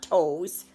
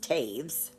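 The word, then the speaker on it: Toews: good reading by miriam taves okay that's not toes it's it's pronounced taves okay so there's that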